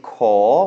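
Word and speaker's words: ขอ: It's ko kai or ang. So it's a high-class consonant and then a long vowel with no final. So that makes it a rising tone, a live syllable.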